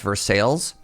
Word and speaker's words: Versailles: Now in Kentucky, there's a town called Versailles that's pronounced Versailles.